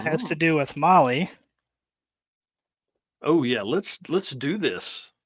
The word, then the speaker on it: Mahle: And for all you podcast listeners out there, Molly is spelled Mahle.